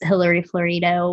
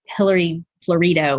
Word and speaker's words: Hilary Florido: screen yeah it was Hilary florido which I recently learned that I've been saying it wrong because I've heard it said both ways and Hillary florito is the correct way to say her name so Hillary florito and